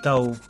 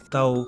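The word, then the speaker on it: เต่า: vu dans la vidéo les tortues c'est plus facile ça se dit Tao Tao comme l'île C Tao l'île au tortu autre news nationale province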